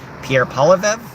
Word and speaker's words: Pierre Poilievre: Pierre Poilievre, that's how I say his name.